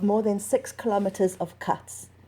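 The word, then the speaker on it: ghats: than six kilometres of cuts pronounced with a soft k on the western bank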